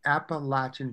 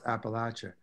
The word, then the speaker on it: Appalachia: go of it though some people say if you are in sort of the northeast then it does become appalachia do you agree with that no you know i heard that yeah i think it's appalachia the whole spine of the mountain chain so yeah yeah our